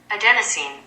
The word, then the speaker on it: adenosine: I pronounce it okay Google how do you pronounce a de n OS I and E adenosine adenosine okay so adenosine is a chemical that